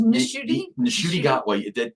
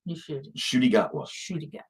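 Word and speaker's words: Ncuti Gatwa: There's Nishuti Gatwa. The N is almost unpronounced. Nishuti Gatwa.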